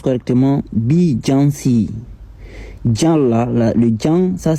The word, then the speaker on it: Beyoncé: Déjà son nom là, ça se prononce correctement Beyoncé.